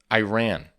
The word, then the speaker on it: Iran: a lot of words yep all right next Iran Iran Iran there you go I'm learning guys I'm learning one of slow but surely one of our first videos I said I ran and obviously it was a great video but